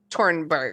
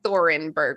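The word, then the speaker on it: Thunberg: I think it's like Tornberg or something like that. Right. It's not like Thorenberg, which is how it's spelled.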